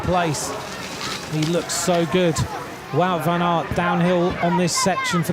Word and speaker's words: Wout van Aert: Wout van Aert just tracking his way around those final sections.